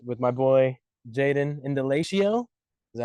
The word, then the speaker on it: Indalecio: All right, welcome to the Mountain Podcast with our little mini microphones here, episode 6 with my boy Jaden Indalecio.